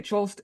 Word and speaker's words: Cholst: And so most people say Cholst. It really doesn't matter because uh, it's somewhere in between those two. And my grandfather changed the pronunciation to Kolst, so it would sound more German.